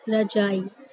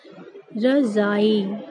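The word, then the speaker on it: रज़ाई: ठीक, फिर उसके बाद देखिए ये आई रजाई। अब देखिए इन ध्वनियों, अब रजाई, रजाई तो आप सब ठंड में ओढ़ते ही होंगे, लेकिन आप लोग इसको क्या बोल देते हैं, रजाई, और रजाई इसका गलत उच्चारण होता है, तो इसका सही उच्चारण क्या होगा, यानी इसको हम सही तरीके से क्या बोलेंगे, रजाई, है ना, क्योंकि जा के नीचे, जा के नीचे क्या लिखा हुआ है, नुक्ता लगा हुआ है, तो इसे हम लोग पढ़ेंगे रजाई।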